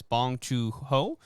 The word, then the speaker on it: Bong Joon-ho: It is directed by, and I'm going to, not pronounce this correctly, so I apologize. Bong Joon-ho.